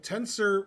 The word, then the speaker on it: Tensor: Tensor rhymes with censor.